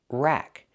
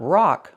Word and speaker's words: rack: Pronunciation rack. Use the short a sound like black cat. Not rock like rock and roll, but rack.